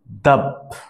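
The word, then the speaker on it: ضب: আরও ইন্টারেস্টিং হচ্ছে Arabic name, আর অ্যারাবিয়ানরা যারা আরবি ভাষায় এটাকে বলে ডাব। দাব মেইনলি উচ্চারণটা হচ্ছে দাব।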